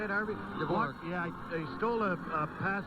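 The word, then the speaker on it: Dvořák: Dvorak.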